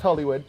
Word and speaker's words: Hullewud: And give us the correct pronunciation if I bludgeoned it. No, it's Hullewud.